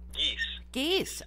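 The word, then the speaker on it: Gies: Is that how you pronounce it? Geis. Okay, Geis.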